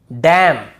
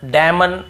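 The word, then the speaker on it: damn: एम और एन यदि एक साथ आता है बहुत ईजी है याद करना। एन का क्या होगा? क्योंकि उससे पहले एम आता है। तो एम एन एक साथ हो तो हमें हमें वहां पे क्या करना है? एन को नहीं पढ़ना है। जैसे ऑटम कॉलम डैम हाईम तो यहां पे हमें ऐसे ऑटम कॉलम डैमन ऐसे हाईमन ऐसे नहीं पढ़ना है।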